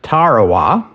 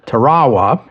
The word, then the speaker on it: Tarawa: They built an airfield on the island of Tarowa. That's what Americans generally call it. I believe the natives call it Tarawa, but I'm going to use the American pronunciation.